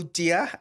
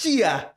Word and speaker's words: Tjiya: go Tia. Yeah. It's Chia, It's Chia. as in the locust.